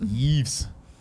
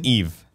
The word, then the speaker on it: Yves: Yeeves. Do you think anyone calls him Yeezy? No. I would. Damn, It's I just should. Eve. S is silent.